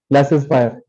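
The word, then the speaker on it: laissez-faire: are still there so how do you pronounce it ma'am classes fire correct so in economics this term is used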